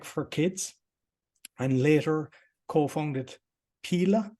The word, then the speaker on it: Pela: kids and later co-founded paila is that how you pronounce it Pila yeah you can call Pila for sure and 100 million